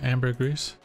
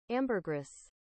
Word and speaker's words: ambergris: Ambergris. This is the American pronunciation.